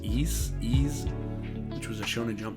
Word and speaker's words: Is: same author they did i think it's called pronounced ease ease which was a shonen jump title so another